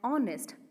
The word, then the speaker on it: honest: hour hagine an honor not a honor an honest not a honest so in the abode three verse is silent because those words are borrowed from french